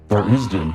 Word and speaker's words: Tharizdun: I want to tell you a secret, and its name is Tharizdun. TharIzdun, pronounced TharIzdun.